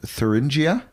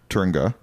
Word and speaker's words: Thuringia: Okay, so that's how I pronounce it, Thuringia? Yeah, like you've heard of Thuringer sausages. Well, I always called it a Thuringer. Well, it's pronounced Thuringia.